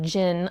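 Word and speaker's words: djinn: It deals with Genie, or Jinn. I'm pretty sure the D is silent. D-J-I-N-N.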